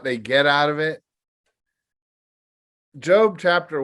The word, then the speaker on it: Job: If you don't know the Bible well, you might say Job, but no, it's pronounced Job, and it's found right before the book of Psalms.